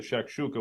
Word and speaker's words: shakshuka: It's called I'm going to pronounce it in a more American way. It's called the shakshuka, which is basically tomatoes, onions, and 2 eggs on it.